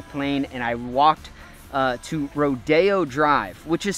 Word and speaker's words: Rodeo: It's pronounced Rodeo, but it's spelled Rodeo.